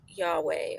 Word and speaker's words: Yahweh: you will see that the word is actually pronounced something like Yahweh or Yahweh, something in that range. The Hebrew pronunciation is can tend to be a little bit vague, and it didn't contain vowels in the past. So I'm happy with the pronunciation Yahweh as being very close and a good way of saying it in English.